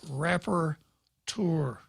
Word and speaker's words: rapporteur: until Pete called and told me how to say it and then repeated. So I got it right, and it's rapporteur. Rapporteur.